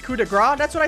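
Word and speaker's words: coup de grâce: games to everybody hiku you absolute nut it's pronounced coup de gras that's what i said i say coup de grace but yeah that was tonight's friday night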